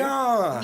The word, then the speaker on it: Ariane: Ariane.